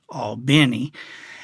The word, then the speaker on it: Albany: I remember talking to him, and Ray is from Albany, Georgia, which they pronounce it Albany, and Ray talked about how he was the best growing up, all through those leagues and all.